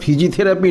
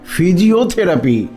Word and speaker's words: ফিজিওথেরাপি: ফিজিথেরাপি করার ছেলেটা এসেছে ওহ গোবিন্দ ওটা ফিজিথেরাপি নয় ফিজিওথেরাপি হ্যাঁ বাবু আমরা মুক্ব